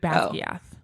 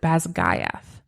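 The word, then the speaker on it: Basgiath: When I read it, I read Basia. Yeah. But in the dramatized version of Fourth Ming I was reading listening to last night, they pronounce it Basga Gayth.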